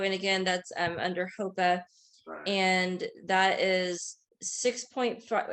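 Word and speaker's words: HOEPA: then the high cost is under um people pronounce it differently but hopa h-o-e-p-a um so the high price is 1.5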